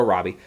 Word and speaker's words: Robbie: with big stars like Margot Roby and uh or Robbie I I was some people pronounce aerobi Margot Robbie and Brad Pitt and